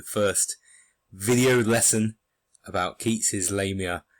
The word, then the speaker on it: Lamia: welcome to the first video lesson about Keats's Lamia it's a monster of a poem quite literally